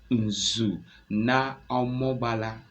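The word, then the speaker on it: Omambala: Ben called Inu naala should I call it again it's called Inu let me spell if I didn't pronounce it clearly you help me put it right o m a m b a l a that's wonderful imagine an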